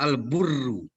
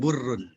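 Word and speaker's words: البُرّ: Ada yang bacanya Al-Barru, ada Al-Birru, ada Al-Burru. Barrun, birrun, burrun. Itu beda-beda maknanya tuh. Tulisannya sama, beda harkat doang.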